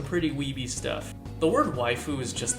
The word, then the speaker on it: waifu: Wiebe stuff the word wife who is just the Japanese pronunciation of the English word wife and the meaning can